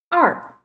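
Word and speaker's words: 二: 2 r r yes you can follow me and repeat it r how to write it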